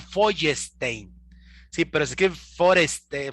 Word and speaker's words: Feuerstein: Se llama, se escribe, así se escribe, se lo voy a pronunciar como escribe, es Feuerstein. Feuerstein. Los allegados cercanos dicen que se pronuncia Feuerstein.